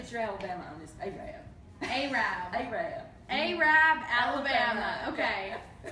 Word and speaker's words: Arab: I want to say Arab.